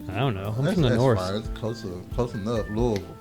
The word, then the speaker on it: Louisville: don't know close enough Louisville say it like you have a marbles in your mouth Louisville Louisville